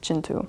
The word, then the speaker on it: Kintu: It looks like Kinu, but I promise you it is pronounced Chintu.